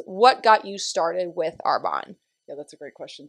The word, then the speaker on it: Arbonne: copples uh with arbonne it is not arbonney apparently it's arbonne i support it love